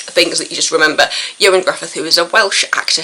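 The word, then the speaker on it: Ioan Gruffudd: one of those things that you just remember Joan Griffith who is a Welsh actor who'd done all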